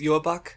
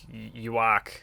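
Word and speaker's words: Yhwach: Because, like, we'd seen oh, by the way, the pronunciation is Yuabak for the main antagonist. I don't know, how are you pronouncing it in your head? I had someone inform me. In my head, I was like, Yuak. Yeah, the Yuabak is I don't know where the B sound comes from, but just roll with it.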